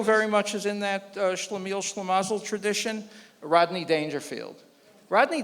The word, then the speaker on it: Schlemiel: kind of expand on the, I think you pronounce it Shmuel tradition of Jewish. Schlemiel?